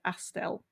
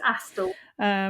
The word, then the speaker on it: Astle: You just say Astel. Mm, Astel. it's Astle.